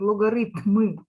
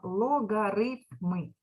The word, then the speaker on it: логарифми: вивчати місяць читається логарифми деякі діти чомусь невірно читають логарифми правильно логарифми А ми будемо вивчати